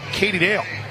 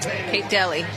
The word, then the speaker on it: Kate Daly: is going to be Katie Dale. Oh, let me double-check my pronunciation, guide. I think I have it wrong. Kate Daly. Daly, yep. For BYU, number 26, Kate Daly.